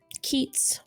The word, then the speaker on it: Keats: traveled with okay Keats oh excuse me Keats k-e-a-t-s like the poet I love that what